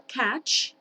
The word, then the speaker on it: catch: Tenemos acá catch, que significa atrapar. Pongan mucha atención a cómo se pronuncia. Catch, catch. Ese sonido al final es CH. Ch. No es sh, es ch.